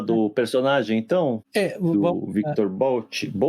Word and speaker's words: Bout: Do Victor Bout. Qual é a pronúncia correta do nome dele? Então, no documentário é Bout. No documentário fala Bout.